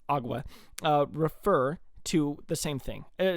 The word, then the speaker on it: agua: Both water and aqua, or well, apparently it's pronounced agua, refer to the same thing.